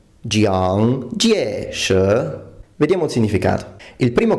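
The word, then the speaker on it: 蔣介石: questo nome in cantonese, ma conosco il cinese mandarino e il nome in cinese mandarino viene pronunciato Jiang Jieshi. Jiang Jieshi.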